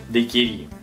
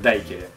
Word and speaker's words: дайкири: если смотреть всякие википедии, там везде пишут с ударением на последний слог «дайкири». Я никогда не слышал такого высказывания ни от кого. Сейчас все уважаемые бармены и любители коктейльной культуры, они говорят «дайкери».